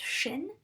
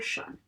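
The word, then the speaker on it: -sion: They both have that shun. Sometimes S-I-O-N is pronounced shin, if you say really fast, but it can be either shin or shun.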